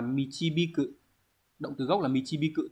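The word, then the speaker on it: 導く: Đọc là michibiku.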